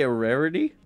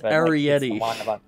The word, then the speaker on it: Arrietty: But, did you just say a rarity? I'm only mispronouncing it. It's Arrietty. Arrietty.